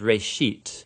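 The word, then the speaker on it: ראשית: Genesis comes from a Hebrew word. It's pronounced reshit, and it just means beginning.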